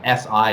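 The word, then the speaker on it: 四: The pronunciation of 4 is S, which is SI in the 4th tone, and S is die or death.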